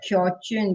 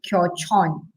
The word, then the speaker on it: Kyochon: I pronounce it as kyochun, but I think it's kyochon.